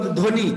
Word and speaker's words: ধ্বনি: তাই প্রথমে শব্দের প্রথমে যদি বফলা থাকে তাহলে সেই উচ্চারণটা আমাদের হচ্ছে যে সেটা উজ্জ্বল লুকাইতে থাকবে, হবে, যে সেটা উজ্জ্বল হবে।